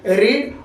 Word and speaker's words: read: तो अब यहाँ पे सुधार करने की जरूरत नहीं है, क्योंकि इसका V1 भी रीड, और V3 में प्रोनाउंसिएशन होता है रेड, लेकिन लिखा जाता है READ, रीड ही।